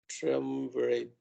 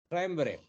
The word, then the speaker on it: triumvirate: of a tour, one or all of the triumvirate of must experts are called. Sorry, how do you pronounce it? Triumvirate.